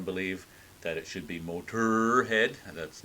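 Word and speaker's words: Motörhead: Lemmy has been quoted as saying he just thought it looked mean, so hence the omlauts over the second O, but it doesn't change the pronunciation.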